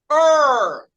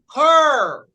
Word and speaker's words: her: Então, o ER aí é uma vogal que está sendo controlada por uma consoante. Então, eu vou pronunciar her. Her. Her.